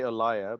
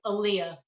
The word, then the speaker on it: Aliyah: I would say ALIYAH, but That's how most people pronounce it, but it's ALIYAH. ALIYAH.